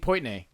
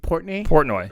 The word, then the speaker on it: Portnoy: Dave Poitney, or the pizza, the guy from Barstools? Barstool. Yeah. So there's an there's an episode of that where how do you say his name? Dave Portnoy.